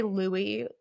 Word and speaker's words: Louis: I'm going to say Louie Lori because he was a Frenchman.